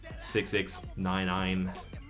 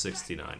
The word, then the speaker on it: 6ix9ine: His name is Daniel Hernandez, better known as 6ix9ine, or Tekashi 6ix9ine, 6ix9ine. It's not pronounced 69 for the record, so you can save your nice jokes.